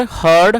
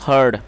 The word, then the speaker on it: heard: दोस्तों, ये हियर की सेकंड फॉर्म है, और जो इसकी करेक्ट प्रोनाउंसिएशन है वो है हर्ड। बहुत से लोग इसको हार्ड पढ़ते हैं, जो कि एक रॉन्ग प्रोनाउंसिएशन है। तो जब आपको ये वर्ड पढ़ना है HEARD, तो इसे हर्ड पढ़ना है, और ये हियर की सेकंड फॉर्म है।